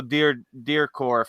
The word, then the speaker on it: Dudikoff: You had Steven Seagal, Michael Dudikoff. I think that's how you say it, Dudikoff or something like that.